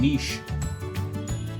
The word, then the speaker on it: niche: Group की तरफ कोई चीज टारगेटेड होती है उसे कहते हैं नीश. तो लिखा जाता है NICHE, लेकिन इसको नीच नहीं बोलते. क्या बोलते हैं? नीश.